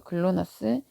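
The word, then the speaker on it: GLONASS: 그래서 GNSS는 인공위성이고 그 안에 종류에 뭐가 있는 거냐면 GPS, 글로나스라고 읽어요. 글로나스, 갈릴레오, 콤파스와 같은 위성 시스템이 있어요.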